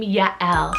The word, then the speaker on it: Yael: that is the name Yael, so spelled Y-A-E-L. So it is 2 syllables, Ya, Y-A-H, and then E-H-L, Yael.